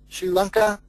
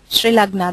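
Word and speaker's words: Srilagna: give it back to Sri Lanka, I don't know if I pronounce your name correctly. That's perfectly fine. The Sri Lagna, that's how you pronounce it.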